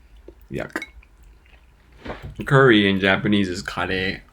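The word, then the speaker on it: カレー: a fatty substance yuck curry in japanese is kade it's so different right i finally started watching your other channels thanks bruh no problem and welcome curry is pronounced khadi in japanese it's pretty different now keep in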